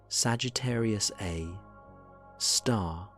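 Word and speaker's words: Sagittarius A*: reason the galaxy exists, Sagittarius A, asterisk, pronounced Sagittarius A, star, the super massive black hole.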